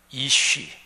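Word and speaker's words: אִישׁ: 단어에 담긴 뜻입니다 자 히브리어로 말하면 남자는 이쉬 이렇게 발음하고 여자는 이샤 이렇게 발음해요 지금 발음으로 들어서 아시겠지만 남자라는 이쉬 여자라는 이샤 요거는 영어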